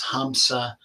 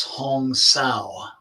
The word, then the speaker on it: hamsa: they wrote me about some people pronounce hamsa as hong sao some people even use ha and saw either method is correct these are pronunciations due to regional dialects um kind of like